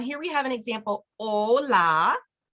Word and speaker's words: hola: we have an example hola hola remember the H is silent Spanish e bien benidos